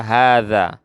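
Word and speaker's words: هذا: Ada kata hadza. Hadza. Ya, hanya di sini tidak panjang tapi bacanya panjang. Tulisannya benar, tidak salah. Cuma bacanya panjang.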